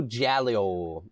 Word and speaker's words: Giallo: Yeah, that's how you say Giallo it. Giallo movies from the 70s from Italy. Yeah, that's what it reminded me of. But do you want to read the synopsis of this movie, Josh? Neo Giallo.